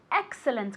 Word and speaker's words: excellent: Excellent, con esa T al final.